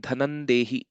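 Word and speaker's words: धनं देहि: And similarly here also, Dhanam Dehi. What will happen is again the Anuswara will be replaced with the fifth letter of the Varga Varga of the Paravarna. So it will become Dhanandehi, actual pronunciation later.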